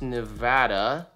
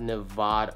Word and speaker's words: Nevada: It's actually pronounced Nevada, not Nevada. Oh, Nevada. I've heard people say it like that. Wow, that's crazy. Nevada, like bad. Drop that jaw.